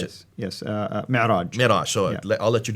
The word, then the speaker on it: Mi'raj: But that's where called the Miraj. How do you pronounce it? Yes, Mi'raj.